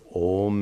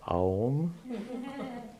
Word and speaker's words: Om: When you're chanting Om, Om, by the way, I hope none of you chant Aum. Please don't. Please don't. This deconstruction of Om into Ma is a grammatical deconstruction. It's absolutely not meant for pronunciation. A lot of people have misunderstood that today. Anyway, Om is pronounced Om.